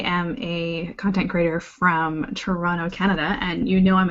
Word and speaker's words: Toronto: especially from Ontario you'd never say the second D is Toronto yeah oh early on and early on in life I would say Toronto and then later in life I thought I had to pronounce that second te so now saying at Toronto you can be lazy with it it's absolutely fine um yeah so I